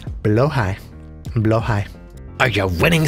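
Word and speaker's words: Blåhaj: blow hide low high by the way is the correct way to say below High not blah although blah is very funny and very enjoyable and I still like saying blush sometimes but it is below High blow high are you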